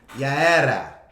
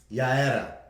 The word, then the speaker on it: Yaera: For the record, my daughter's name is Yaera. Say it again. Yaera. That's actually how you say it.